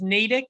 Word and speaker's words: Natick: up there what is is it pronounced Natick is that what it is Natick yes cool place you know